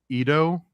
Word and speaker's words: Edo: Shinto, and the depictions are primarily seen on Edo wood art. Is that how you pronounce that?